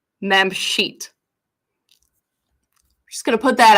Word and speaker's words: Mamshit: talking about ma'am sheet it is pronounced mem sheet I'm just gonna put